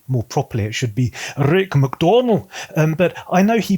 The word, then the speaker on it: Rick MacDonnell: His name is Rick MacDonnell. I'm using the British pronunciation there, or probably more properly it should be Rick MacDonnell, but I know he pronounces it slightly differently.